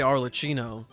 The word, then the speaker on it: Arlecchino: I mean, I say Arlecchino.